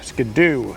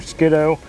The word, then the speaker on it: Skiddo: That is shiny Skidoo number 2, or Skiddo, but it doesn't rhyme with 2 if I say it like that.